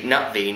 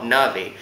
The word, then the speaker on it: Na'vi: race and hence their language was actually nvi not Navi and then you've got